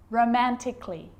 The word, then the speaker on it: romantically: the letter a now the letter a can be silent especially in words that end in a l l y like these romantically musically logically so i'm not pronouncing